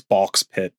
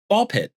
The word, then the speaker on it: Ball x Pit: I think the X is silent. Yes. Or really loud and it's Balk Pit.